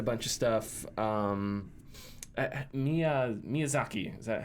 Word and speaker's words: Miyazaki: Lane said a bunch of stuff um Mia Miyazaki is that how you pronounce it correct yes from uh elen ring